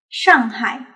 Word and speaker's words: Shanghai: public alright next one to practice this sound all you need to do is to simply remove the voice when pronouncing you got it now you can use standard mandarin to pronounce shanghai shanghai according to your experience